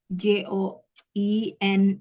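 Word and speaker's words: joined: itu gimana tulis tulisannya j o i n e d tapi cara bacanya join join ada idenya ya the English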